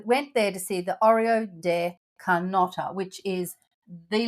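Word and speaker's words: hórreo: That was to show us an Oreo uh which is spelled with a H but it is not pronounced and it's like the pronounced the same as the biscuits Oreo.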